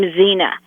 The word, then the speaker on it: Xena: see in a letter like in the name xena you see you hear a z e and a but it's spelled x e and a then you've got to read both the x that you're seeing and the z that you're hearing so you would do